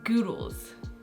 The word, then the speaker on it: Goodles: like good goodles or is it like noodles with a G so it's goodles I think it's like